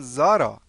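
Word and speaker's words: Sara: بگید سلام سارا سارا سارا به آلمانی تلفظ میشه این اسش چون قبل بعدش بعدش کلمه آ اومده تلفظ میشه ز پس آلمانیا به سارا میگن زارا خب پس به زهرا چی میگن حالا اونو بعداً بهتون میگم پس به سارا میگن زارا زارا حالا بگید سلام سارا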